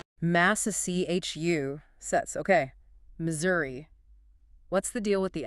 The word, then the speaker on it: Missouri: Missouri. What's the deal with the s? Generally the middle s is pronounced like a z sound.